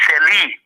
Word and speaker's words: Sirlee: Seli. SIRLEE. The pronunciation different from the spelling though.